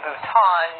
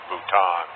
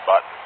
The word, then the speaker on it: Bhutan: thinking that Nepal and Bhutan which incidentally he also mispronounced as nipple and button or part of India